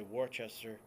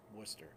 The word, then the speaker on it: Worcester: is wrong and then there's Worcester Massachusetts it's spelled like Worchester and you know a lot of people say Worchester well it's Worcester there's different like Native American names of stuff